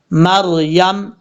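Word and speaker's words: مريم: رکھیے گا۔ یکفلو مریم، میم کے بعد جو را ہے یہ را پر پڑھا جائے گا، مریم، یہاں پر صاد ہے،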